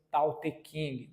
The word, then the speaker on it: Tao Te Ching: Alguns atribuem a esse texto, propriamente, o surgimento do taoísmo, que é o livro Tao Te Ching, também traduzido com uma outra pronúncia, Tao Te Ching, talvez essa seja até mais popular, escrito por Lao Tzu, ou o nome mais popular, Lao Tse.